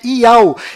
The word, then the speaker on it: Yahu: nome do Criador é Yahu, e a última letra do seu nome tem som de H mudo, do qual não altera a pronúncia deste nome.